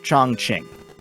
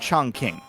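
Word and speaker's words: Chongqing: pronounce it it's pronounced chong king i don't know how they it up but every character in that game gets it wrong probably an um when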